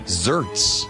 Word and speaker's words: xertz: Can you spell it? Yeah. Xertz. Wow. Xertz. Zerts.